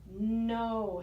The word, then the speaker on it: know: And then we have know. How do you know? The K is silent, the W is silent, and it says the word no in the middle.